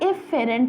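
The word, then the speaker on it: efferent: एफरेंट sorry एफरेंट आर्टल और जो निकलेगी इसको हमने कहना है इ फरेंट आर्टल स्पेलिंग सेम है बस ए और ई का फर्क है ठीक है आपको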